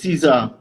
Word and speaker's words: Caesar: This is it Czar or Caesar? It's Caesar. Caesar, right?